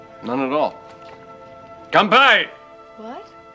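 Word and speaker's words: 乾杯: Kanpai! What? It's a Japanese toast. You have to say it like that. Oh. Kanpai!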